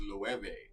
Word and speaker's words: Loewe: Or instead of Loewe, it's Low. I'm like, no, you're not getting like timber. You're not going to buy you're not going to Lowe's. This is not like a hardware store. This is Loewe, right?